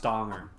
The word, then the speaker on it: Danger: brooklyn nine-nine it's like his name is jack danger but it's like oh it's pronounced donger it's like why why